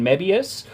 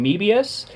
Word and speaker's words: Mebius: I have found that actually both pronunciations are correct because it's based off the mobius strip so you could either